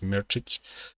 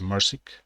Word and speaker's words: Mirčić: For example, my last name is Mirčić, but people pronounce that as Mersic.